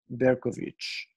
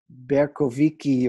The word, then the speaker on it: Bercovici: it to be pronounced Berkoviki or Berkovici, something like that. That CI in Romanian, same as in Italian, is their way of representing the CH sound.